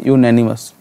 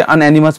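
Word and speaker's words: unanimous: एक वर्ड होता है यूनैनिमस। हाँ, सही लिख रहा हूँ मैं, ठीक है। कुछ बच्चे अनएनिमस पढ़ते, गलत पढ़ते हैं, इसको ध्यान रखना। करेक्ट कर लो अपना प्रोनाउंसिएशन, यूनैनिमस, जिसका मतलब होता है एक मत।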